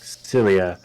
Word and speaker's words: Exilia: I pronounced that right? Yes. Exilia.